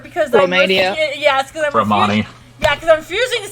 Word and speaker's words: Romani: Repeat after me, Ginny. Row. Row. Ravioli. Row my boat. Ma. Ravioli, Like that's ma. Knee. Like the knights that say knee.